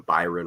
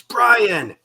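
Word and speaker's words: Bryon: As a Jazz fan, we always had to endure people calling him Byron Russell, and it's Brian.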